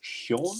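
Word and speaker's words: Sjón: And this film is written and directed by Robert Eggers and also co-written by someone called Sean. Sure, yeah. Yeah, I made sure I checked how to pronounce it. It's S-J-O-N, right?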